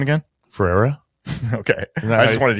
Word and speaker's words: Ferreira: Ferreira.